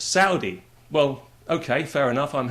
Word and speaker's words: Saudi: It's not Saudi, it's Saudi.